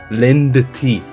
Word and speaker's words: Lindt: That's how you pronounce it. Lindt.